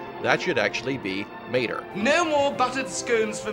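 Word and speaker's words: Maetel: The Japanese language has no true L sound. The spoken sound is somewhere between an R and an L. Whenever a non-Japanese word is spelled in their alphabet, the R is used in place of the L, which can sometimes cause trouble for translators.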